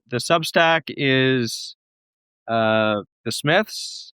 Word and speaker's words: Psmith: So the the Substack is uh the Smiths. It does have a P at the front of it even though it's pronounced Smith.